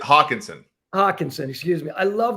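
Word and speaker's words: Hockenson: love the way Augustine hockenstein plays am I pronouncing that right yeah I think it's Hawkinson Hawkinson excuse me I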